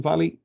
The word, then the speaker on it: Vale: a bit about meeting valleys it looks like vale but it's actually pronounced valley uh on the next